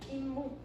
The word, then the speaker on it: 잇몸: 잇몸. 이렇게 발음해, 얘들아. 그치? 자, 그러면 앞이 모음으로 끝났고 뒤에 니은, 미음 중에 하나인 얘가 왔죠? 그러면 무슨 소리가? 니은 소리가 첨가가 되는 거야.